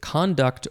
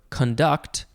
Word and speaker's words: conduct: And the second form is, you could pronounce it conduct or conduct.